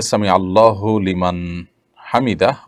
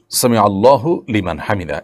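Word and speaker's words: سمع الله لمن حمده: ফেলেছেন দেখুন সামি আল্লাহু সামি আল্লাহু লিমান হামিদা এটি হলো শব্দের সঠিক উচ্চারণ সামি আল্লাহু লিমান হামিদা সামি আল্লাহু লিমান হামিদা এটা সঠিক উচ্চারণ নয় থামতে হবে সেখানেই যেখানে মানুষ ওয়াকফ করবে না করলে সেখানে আপনার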